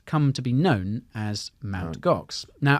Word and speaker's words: Mt. Gox: So he stuck with that, and that has since come to be known as Mt. Gox. Now, apparently, you're supposed to pronounce it MT Gox, but no one ever does.